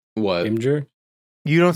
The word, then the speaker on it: Imgur: Imgur? You don't say Imgur? No, it's Imager.